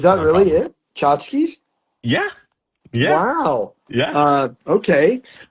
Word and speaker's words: Chachkis: Chachkis. Like Chachkis. tchotchkes, like little things. Yeah, but Yeah. ch say it again. Tchotchkes. Say tchotchkes is fine. Is It's that no really problem. it? Chachkis?